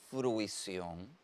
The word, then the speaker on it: fruición: Y nos trae el sustantivo fruición. Es un sustantivo que tiene tilde ortográfica, es una palabra aguda, terminada en N, lleva tilde en la O, y que cumple con una regla ortográfica del grafema C.